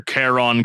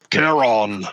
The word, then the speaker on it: Charon: picking that you're fine I just have to remember Kon Collective not not Collective colletive yeah you gotta say it like a like a Norse god Kon Kon Collective presents yeah